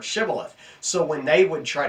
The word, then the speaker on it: shibboleth: of the letter H they struggled with their H's and so they had difficulty pronouncing the word shibboleth so when they would